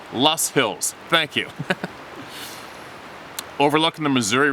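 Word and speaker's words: Loess Hills: january 2020 southwest iowa in the lowe's hills oh pronounced lost hills thank you overlooking the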